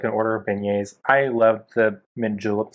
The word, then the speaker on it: beignets: are you talking about you mean beignets learn french you traveled at yeah